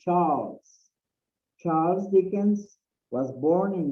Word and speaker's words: Charles: It says Charles, it's not Charles. Charles is the way we pronounce it in Spanish. In English, it's Charles.